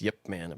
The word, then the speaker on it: Ip Man: you say it yeah Ip Man but in Chinese it's Yip Man yep man it's so funny everybody over here says IP man I always said that